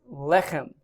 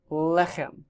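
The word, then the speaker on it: לחם: The fourth word down is lechem, lechem. Notice that it's accented on the first syllable.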